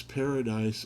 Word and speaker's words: Paradis: Lawrence Paradise Automotive Boutique. I actually worked for a guy named, that was his real name. He went by Larry Paradis because he pronounced it the French pronunciation of paradise.